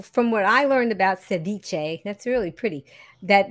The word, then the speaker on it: ceviche: How do we pronounce the word that's in the name of the dish that you're making? So just ceviche.